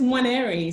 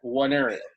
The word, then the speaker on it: Nwaneri: It's Nwaneri, so it's almost like a silent N almost.